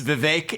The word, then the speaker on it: Vivek: for the longest time it's Vivek it rhymes with cake I'd expect someone of